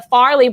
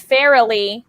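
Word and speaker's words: Farrelly: match against racial cushing where i said the farley brothers but it's fairly and i didn't get it and because i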